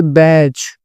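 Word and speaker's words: badge: फिर यहाँ पे बैच, डी साइलेंट होगा।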